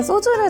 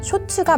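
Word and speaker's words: 焼酎: 방금 제가 소주를 잘못 말한 게 아니고요. 쇼츠가 맞습니다. 일본식 소주를 쇼츠라고 읽거든요.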